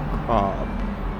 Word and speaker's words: Cobh: the lovely town of cob or cob some people say cob some people and but the host and driver was pronouncing as Co and so from the